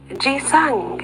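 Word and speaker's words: 기생: The jisang, as the Koreans pronounce the name of the geisha, as the Japanese call the dancing girls, are associated with the cinnamon rose, for did not the sages tell this story?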